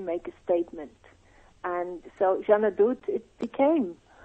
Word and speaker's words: Jeanne D'Août: And so Jeanne Adote, it became. Jeanne Adote, very nice. Thank you for helping me with the pronunciation.